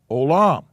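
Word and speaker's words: עולם: And this is pronounced O. And then this is the second syllable, and it's pronounced Lam. So it's pronounced Olam.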